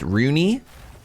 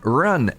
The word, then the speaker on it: Rune: Run can be a name in Swedish as well. Pronounced Rooney. How was my Swedish? Rooney. Or is it more Canadian? Run.